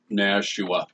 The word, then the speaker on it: Nashua: Nashua? Nashua.